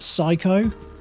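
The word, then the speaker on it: SIKO: So it's S-I-K-O, which I believe is pronounced psycho.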